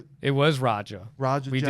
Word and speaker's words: Raja: It was Raja.